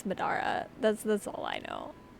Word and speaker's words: Madara: It's Madara.